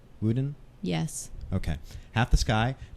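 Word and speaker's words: WuDunn: by Nicholas Kristoff and Cheryl how do you pronounce it wudan wuden yes okay half the sky turning oppression into opportunity for women worldwide so this is available at www.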